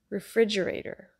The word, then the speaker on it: refrigerator: Refrigerator. Refrigerator. The stress is on the I, like pig sound, and there's a flap T, so the T sound turns into a D.